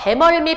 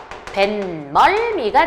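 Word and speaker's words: 뱃멀미: 보통 사람들이 뭐라고 발음해요? 배멀미. 배멀미라고 하는데 그건 표준 발음이 아니고요.이 단어는 삶소리 현상이 일어나요. 그래서 표준 발음이 뭐냐면 벤멀미가 되죠.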